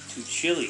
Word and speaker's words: Tuccille: Tuccille. Thanks for the pronunciation guide, Mr.